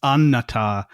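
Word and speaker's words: Annatar: getting everybody to pronounce anatar with the extra with the extra long N because the double N because in appendix E Tolken says the double N is pronounced longer.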